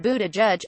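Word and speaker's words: Buttigieg: son of two Notre Dame professors Buddha judge pronounced Buddha judge is a Rhodes Scholar and Afghanistan war veteran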